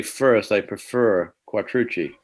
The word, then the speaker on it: Quattrucci: There's a pizza place called Bertucci's, and it's the same spelling, CCI.